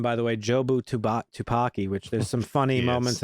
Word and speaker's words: Jobu Tupaki: Yeah, villain name, by the way, Jobu Tupaki, which there's some funny moments in that where Evelyn mispronounces it a lot and she calls her like Jojo Chewbacca or some shit.